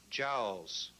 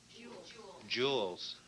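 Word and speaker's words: joules: C kilowatts or D Js Js no that's correct incorrect um with the mispronunciation judges Joes Joes Jewels okay would that have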